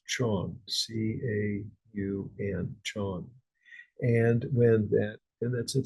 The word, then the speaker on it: Chan: So in China, it was pronounced Chan.